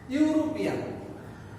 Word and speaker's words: European: এখানে ইউরোপিয়ান প্রথম অক্ষর আছে কি ভাওয়াল ই, বাট এর উচ্চারণ হয়েছে কি ইউ, এর উচ্চারণ হয়েছে কি ইউ।